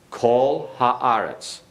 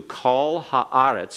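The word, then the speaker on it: כָּל־הָאָרֶץ: what did you hear call haarets atouf not call it's not called it's not ah it's not a comments it is a comments in a closed unaccented syllable okay because when you have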